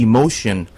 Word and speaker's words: Emocean: It's the Emocean Club, kind of like Emo in the ocean. Am I doing that right, Andy? Yeah, it's definitely the Emotion Club, Roland.